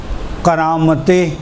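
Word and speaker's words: قرامطہ: فرقے کا نام تھا کرامت، قاف را الف با اور چھوٹی ہے کرامت. جی دوبارہ سے ہجے کروں. کرامتے قاف کاف نہیں قاف را الف طا ہے تے نہیں قا.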